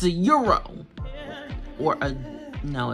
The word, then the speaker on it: gyro: it's not it's a euro or a no it's not pronounced your gyro I'm not even gonna perpetuate that it's a euro I love it it's